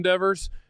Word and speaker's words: Devers: Yeah, Devers.